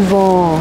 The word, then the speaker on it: vent: ça, du vent ?» Mais non, pas du vin, du vent, le vent. Donc, les voyelles nasales sont plus nasales au Québec et au Canada.